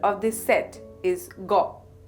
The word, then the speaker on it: গ: of this set is go the pronunciation is similar to The Go in English word got Bangla letter go also